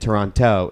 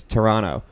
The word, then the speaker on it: Toronto: They don't pronounce it Toronto. It's Toronto. Where are you from?"